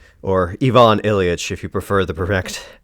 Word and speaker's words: Ivan Ilyich: This time I thought I would do u a review of The Death of Ivan Ilich or Ivon Ilich if you prefer the perfect the correct pronunciation.